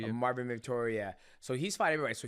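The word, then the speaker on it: Marvin Vettori: Marvin Victoria. Marvin Victoria.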